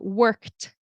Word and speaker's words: worked: The e d in this word turns into a t sound. Work and then worked t like the t.